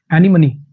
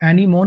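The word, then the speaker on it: anemone: एनीमनी, इसकी जो प्रोनाउंसिएशन होती है ना वो एनीमोन नहीं है, एनीमनी है इसकी प्रोनाउंसिएशन, एनीमनी। इसकी जो प्रोनाउंसिएशन है वो है एनीमनी।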